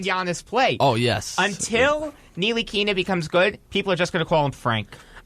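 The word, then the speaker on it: Ntilikina: Like, is the N silent? Is the T the... I think it's pronounced Nilikina. Nilikina? Nilikina. Nilikina. Like Exactly. Nilikina. Exactly. Okay. I'm pretty sure that's how it's pronounced.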